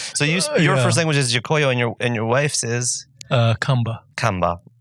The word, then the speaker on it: Gikuyu: Gikuyu, which is Kikuyu. So Kikuyu is the anglicized pronunciation. Gikuyu is a proper...